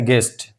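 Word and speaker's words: guest: पढ़ेंगे गार्ड इसी तरह गेस्ट गेस्ट यहां भी यू के बाद इ आया है तो अब ये यू साइलेंट है यानी इसको तलफुज में नहीं लाएंगे इसको पढ़ेंगे गेस्ट डब्ल्यू का कायदा [नाक से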